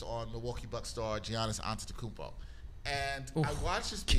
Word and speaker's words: Antetokounmpo: But after 60 Minutes had another piece after that focused on Milwaukee Bucks star Giannis Antetokounmpo. And I watched this piece. Killed that last name pronunciation.